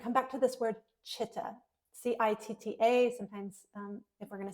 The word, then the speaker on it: chitta: And I'm going to come back to this word chitta, C-I-T-T-A. Sometimes if we're going to spell it in English language, C-H-I-T-T-A.